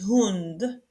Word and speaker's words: Hund: Hund, hund, on prononce le H ici, hund.